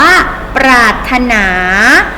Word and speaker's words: ปรารถนา: เอ่ย เยี่ยม มาก ค่ะ เรา ไม่ ออก เสียง ตัว พยัญชนะ ที่ ถูก ลิขิต กัน ใต้ ไว้ นะ คะ ทำ นี้ อ่าน ว่า ปอ รอ อา ถ. ตราด อ่าน ว่า ปรารถนา ปรารถนา เช่น ครู นิ